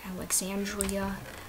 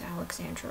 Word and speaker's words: Alexandra: and I've been called Alexandria I've been called Alexander um so basically people combine Alexander with Alexandra which is extra and you know things